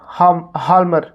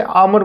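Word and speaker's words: Hjalmar: और तो एक इकोनॉमिक रिकवरी के लिए उसने क्या है, एक इकोनॉमिस्ट हायर किए कॉल्ड हाल्मर। हाल्मर लिखा जाएगा लेकिन इसे आमर बोलते हैं, इसमें एच जो है वो साइलेंट है।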